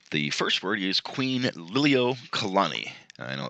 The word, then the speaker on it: Liliuokalani: acquired Hawaii and the first word is Queen Lily Oh Kalani I know it's kind of a little bit difficult to pronounce but Queen Liliuokalani was the last Hawaiian queen and she was